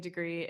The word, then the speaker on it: DeGrie: DeGrie. It's pronounced like the weather or like the college degree.